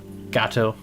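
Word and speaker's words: gâteau: Gateau. Yeah, I said it right. Gate. It's a It's a long a right.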